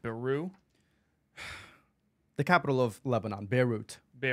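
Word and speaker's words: Beirut: the capital of Lebanon beut be oh the tea isn't silent there no it's not of course of course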